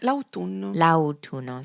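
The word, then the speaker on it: l'autunno: Launo is also quite difficult to remember. I mean of course it looks like autumn but the pronunciation oh launo. So you have to remember the a and the all the vowels.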